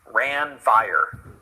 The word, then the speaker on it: Ranvier: But crazy way of pronouncing this, Ranvier, Ranvier.